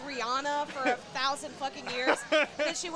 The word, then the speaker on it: Rihanna: Is that like when I said Rihanna for a thousand years, then she went on an interview and she's like, "It's Rihanna."